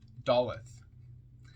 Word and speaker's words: Daleth: death comment on doet dollet d a l e t h pronounced doth transcribed as D the